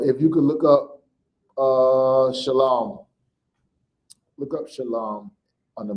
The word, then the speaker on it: Shalom: That's why nobody from Israel that speaks modern Hebrew would ever say Shalawam. They would say Shalom.